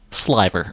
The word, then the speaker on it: sliver: into soft, untwisted rope called a sliver, pronounced sliver.